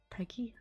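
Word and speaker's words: PEGI: Peggy?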